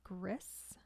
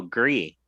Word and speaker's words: Gris: recommended a game called gris game chris oh gree oh yeah it's a french game and that one i